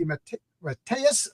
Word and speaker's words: DeMatteis: welcome to John's longbox I'm here with jmd M matus I said your name wrong last time and I had to practice